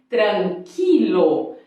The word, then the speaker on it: tranquilo: letra U por exemplo tranquilo Ok equitaciona mas o que acontece não se pronuncia porque no português a gente fala tranquila mas em espanhol é tranquila muchacha tranquila toda vassaleiro